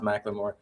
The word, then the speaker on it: McLemore: McLemore, pronounced Macklemore.